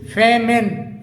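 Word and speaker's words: famine: ऐसे ही एक अगला वर्ड है एफ ए एम आई एन ई जिसे फेमिन फेमिन बोला जाता है।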